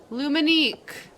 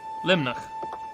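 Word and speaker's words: Luimneach: Luminique. I wish I could click on this and it would pronounce it for me. Oh, I can help. Limnach.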